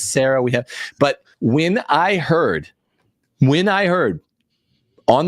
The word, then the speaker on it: Sarah: It's Sarah, not Sarah. Oh, wow. Okay, good. I've been saying it wrong for years. Say it like a person. The name is Sarah.